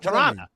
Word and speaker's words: Toronto: I love the histrionics and excellent pronunciation of Toronto. Because the second T is silent.